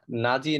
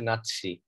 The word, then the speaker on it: নাৎসি: of world war second এটা নাজি না উচ্চারণটা হচ্ছে নাৎসি হলোকস্ট মানে হচ্ছে ধ্বংসযজ্ঞ